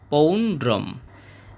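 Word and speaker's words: পৌণ্ড্রং: উচ্চারণের মতই হবে এবং শেষে অনুস্বার থাকার কারণে অর্ধেক ম হবে পৌন্ড্রম এরপর আছে দাদ মৌ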